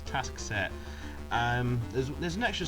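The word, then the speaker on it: Taskset: it task set sorry I always pronounce him as tasket for some reason it's task set um there's there's an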